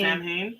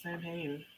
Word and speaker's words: Samhain: Sam Hain?